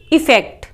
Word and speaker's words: effect: ध्यान से सुन लेना, अफेक्ट AFFECT अफेक्ट, एक है EFFECT इफेक्ट। प्रोनाउंसिएशन भी अलग अलग हैं दोनों के, लेकिन अधिकतर लोग सब अफेक्ट बोलते हैं। ए से जो शुरू हो रहा है उसको कहोगे अफेक्ट, ई से शुरू जो हो रहा है उसको कहोगे इफेक्ट।